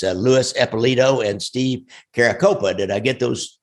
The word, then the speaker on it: Caracappa: It's Louis Eppolito and Steve Caracappa. Did I get those pronounced right? Caracappa.